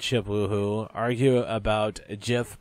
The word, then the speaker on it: GIF: woohoo argue about a jiff pronunciation or gif I don't know I've always said Jeff and I think it's gif sometimes I say Jeff but i believe it's gif gif so yep I got